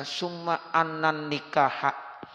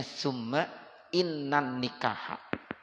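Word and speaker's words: ثم إن النكاح: Ini saudara, kalau lafaz summa ya itu kalau ada lafaz inna bacanya jangan anna. Ya, jadi summa inna. Makanya kadang-kadang kalau ada yang baca khutbah nikah tuh sering kita dengar summa annan nikah. Ya, enggak bagus tuh. Kalau yang ada ngerti nahu ya itu jangan begitu. Bacanya summa innan nikah.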